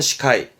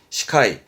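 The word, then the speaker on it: 司会: 사회, 사회자의 사회, 발음은 시카이, 시카이.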